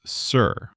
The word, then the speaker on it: Ser: But in Westeros, it's sir. It sounds the same, though.